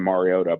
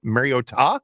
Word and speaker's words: Mariota: Mariota? Yeah, there was a very hard emphasis on that T in Mariota.